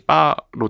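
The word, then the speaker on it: 八: 이런 건가 아 그 팔이 이제 중국어 발음이 빠로 되는데음 그게 이제 약간 중국에서는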